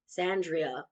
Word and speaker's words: Xandria: Xandria. I was like, "Yeah." Her name is spelled with an X, but you have eyeballs.